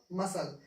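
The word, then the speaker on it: muscles: मांसपेस मसल्स mince मांसपेशी तो इसे पढ़ने हैं मसल्स नेक्स्ट लेटर हमारे पास कौन सा आता है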